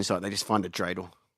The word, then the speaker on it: dreidel: You can Google has you know how Google if you type in like because it's actually pronounced dreidel.